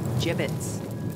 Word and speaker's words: gibbets: again avery had some gibbots left over gibbets what it's pronounced gibbets are you sure yeah